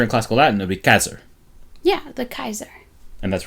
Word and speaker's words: Caesar: julius caesar right um would not have been pronounced caesar in classical latin the rotation of caesar and classical latin would be casser yeah the kaiser and